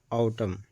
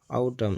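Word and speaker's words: autumn: अगर किसी वर्ड में एन से पहले एम आ जाए तो एन आवाज नहीं देगा। जैसे एग्जांपल है आउटम। आउटम।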